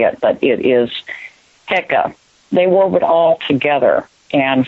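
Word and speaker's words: heka: had a word called hecka and that the pronunciation of that is is not how they used to say it but it is hecka they were all together and for them it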